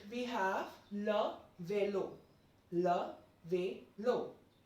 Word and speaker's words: vélo: Talking about number 8, we have le vélo. Le vélo. Like this accent, aigu gives the pronunciation like A. So le vélo.